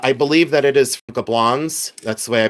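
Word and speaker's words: Gablonz: Uh, I believe that it is Gablons. That's the way I pronounce it. You can pronounce it Gablon if you wish to say Gablon, you can. But I say Gablons. I pronounce the Z.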